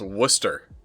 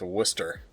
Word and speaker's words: Worcester: Like, I get it, because they spell it like Worcester, but it's pronounced Worcester. Like, that town in England is pronounced Worcester.